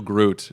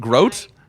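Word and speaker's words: Grodt: one and only Groot. hello. Hi. I did pronounce your last name correct, right? You did not. No? I Groot? tried. Groat? It rhymes with boat.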